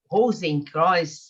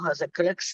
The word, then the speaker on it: Rosenkreuz: O Rosenkreuz, acho que é assim que pronuncia. Christian Rosenkreuz.